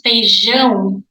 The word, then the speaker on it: feijão: Rice, arroz, beans, feijão. Pronunciation, nasal sound.